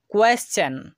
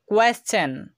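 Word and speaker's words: question: মত হচ্ছে পরবর্তী নিয়ম কোন শব্দের শেষে টি আই ও এন এর পূর্বে এস থাকলে টি এর উচ্চারণ চ হবে এই নিয়মটা একটু ভালোভাবে মাথায় রাখবেন তো চলুন আমরা কয়েকটা উদাহরণ ফলো করি কোয়েশ্চেন কোয়েশ্চেন তো এই ওয়ার্ডটির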